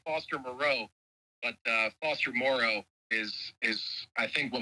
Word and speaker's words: Moreau: we want to make sure people know that it's Foster Morrow and you that's you really think you really think the podcast is going to change the Outlook of the way my last name's pronounced you're damn right dude like well I'll go I'll lean in hard this week on social media that is Foster Morrow hey I just want